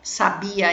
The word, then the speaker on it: sabia: Aqui eu tenho o verbo, sabia é um verbo e sábia é um adjetivo, tá bom? Então, olha a pronúncia como é diferente. Sabia, sábia, tá bom?